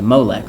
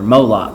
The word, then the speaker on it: Molech: That was called sacrificing your firstborn to Molech, or Moloch, however you want to pronounce it.